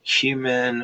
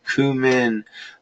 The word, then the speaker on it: cumin: a little bit of cumin or cumin or comeno however you want to call it and it's interesting when